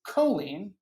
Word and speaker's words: choline: So my question for you, Julieanna, first and foremost is, what is choline? And am I pronouncing it correctly?